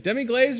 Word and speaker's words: demi-glace: Braised short rib, seasonal roasted vegetables, garlic mashed potatoes, nice demi-glace, demi-glaze or glace? Glaze? Whatever you want to say it. American or French? What's the right way to say it? Demi-glace.